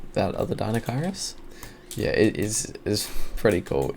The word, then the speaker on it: Deinocheirus: So Deinocheirus, yeah, that is how you pronounce it.